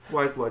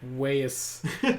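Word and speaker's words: Weyes Blood: Wise Blood? Yeah. Okay, I thought it was like Wayus or something.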